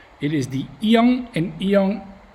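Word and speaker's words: 이응: It is the iang, and iang, as at the beginning of a syllable it's silent, and at the end of the syllable it's an ng sound.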